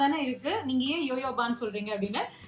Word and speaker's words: jojoba: ஸோ கமெண்ட்ல ஒருத்தர் last time வந்து கேட்டிருந்தாங்க, அது வந்து ஜோஜோபான் தானே இருக்கு, நீங்க ஏன் யோயோபான்னு சொல்றீங்க அப்படின்னு. JOJOBA அப்படின்னு தான் வந்து இருக்கும். பட் அதை ப்ரொனவுன்ஸ் பண்றது யோயோபா ஆயில் அப்படின்னு தான் சொல்லுவாங்க.